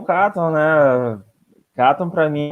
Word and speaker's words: Katon: It's actually Katon. But, you know, for me, as long as people try, you know, like even if they fuck up my name, as long as they try to say it, you know, like in every country it's pronounced different, anyways. Like, so if I go to Chile, they pronounce it Katon, you know.